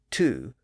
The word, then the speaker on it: two: disappeared and of course the vow later shifted from toe to two and that explains why the number two is still spelled with a W in it but notice that other